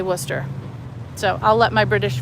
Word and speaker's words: Worcester: a Worcester County, but it's spelled Worcester, but we say Worcester.